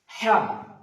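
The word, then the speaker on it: ح: তারপরে আসছে হ্যাঁ, কনসোনেন্টের মাঝখানে হয়তো উচ্চারিত হবে হ্যাঁ, হ্যাঁ, একটা বাতাস বেরোবে। খ, খ, খ উচ্চারণ হবে কনসোনেন্টের শুরুর দিক থেকে, এটা শুরুর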